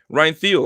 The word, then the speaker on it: Thiel: Pronounced like Adam Thielen. Oh, okay. Ryan Thiel. Okay, there you go. So it's not Thiel.